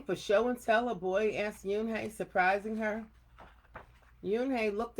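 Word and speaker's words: Unhei: no yoon hey corrected it's spelled u n h e i it's pronounced yoon hey oh it's you hey the boy said like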